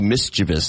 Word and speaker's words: mischievous: that's supposed to be mischievous there's no there's no I after the V it's mischievous that's interesting but I